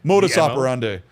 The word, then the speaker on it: modus operandi: What was the word the Latin like oper Oh, moder Oh, modus operandi. Modus operande.